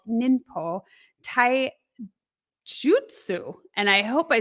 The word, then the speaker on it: Ninpo Taijutsu: I think you did a heck of a good job, but it's Ninpo Taijutsu.